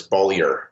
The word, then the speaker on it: Beaulieu: So the way to remember it is that you bowl your ball down the alley. So it's Beaulieu. Beaulieu. Okay. Beaulieu. Y'all are the writing team of Hall and Beaulieu.